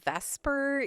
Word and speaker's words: VSEPR: electron pair repulsion theory which usually gets called vesper even though it's spelled the seeper right it's valence shell electron pair repulsion theory is just a lot to say so we're going to call it vesper you can call it